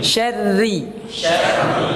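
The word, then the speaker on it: شَرِّ: Kalau syarri pada ada min syarri, cara bacanya min syarri, ya. Syarri, ya, syarri, ya.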